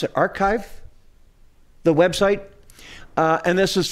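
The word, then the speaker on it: arXiv: and the 1916 paper on how do you pronounce it archive the website and this is from nineteen or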